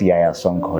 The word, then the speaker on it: Yahya Sonko: First is start by pronouncing my own name. That's Yaya Sonko.